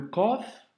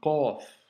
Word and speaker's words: ق: Le Qaf, c'est une lettre, comme tu peux l'entendre, emphasée. Donc, c'est une lettre emphatique, elle doit remplir toute la bouche quand tu la prononces, et il ne faut